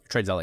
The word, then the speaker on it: TradeZella: Correct me if my pronunciation's wrong, but TradeZilla. TradeZilla, yeah.